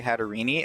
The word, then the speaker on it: Hatterene: I've always pronounced it as Hatterene. Some people say Hatterini, and I can see it both ways.